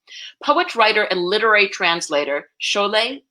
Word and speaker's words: Sholeh: writer and literary translator Sholay Sholay will pay as she said - it rhymes with Olay so I'm trying to